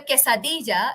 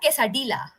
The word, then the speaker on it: quesadilla: Spanish is year okay Double L in Spanish is here so it's always when you're doing uh when you when you eat a quesadilla it's not quesadilla it's quesadilla okay so Amarillo color